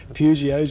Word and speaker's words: Peugeot: They were talking about Peugeots and Peugeots. that's true. Well, the way of pronouncing it is like the French pronounce it, and that's Peugeot.